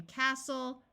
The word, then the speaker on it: castle: uses U and pneumonia there are words with silent T's as well they mostly fall into one of these two patterns where the end of the word is soul like in Castle wrestle note that when a